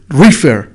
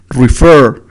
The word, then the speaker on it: refer: Dice, no dices refer, we say refer, refer. Entonces, ¿por qué? Porque el estrés está en la última sílaba.